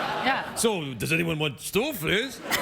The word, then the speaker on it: stoofvlees: Stoofvlees?